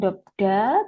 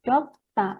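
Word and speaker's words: 덥다: Ini bacanya dop, kemudian D-nya ini dilafalkannya double ya, sehingga bukan dobda, tetapi dopta, gitu ya.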